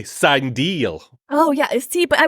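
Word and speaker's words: Cindel: Yeah, Am I saying that right? Sindel, yeah. Yeah. Forgive me. Everyone who watches Star Wars know that there's always a question mark around whether you're pronouncing something correctly. It's actually Sindel.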